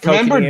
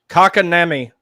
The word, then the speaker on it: Kotkaniemi: And then right after that, whoever it was that announced Kotkaniemi getting drafted, he totally butchered his name, Kakanemi or something.